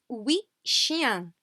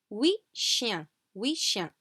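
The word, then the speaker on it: huit chiens: a little rectangle and we shin so again we do not pronounce this final t okay we shin eight dogs okay and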